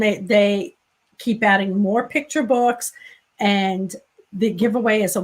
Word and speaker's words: Vooks: And I'm assuming it rhymes with books. So books. It's probably books.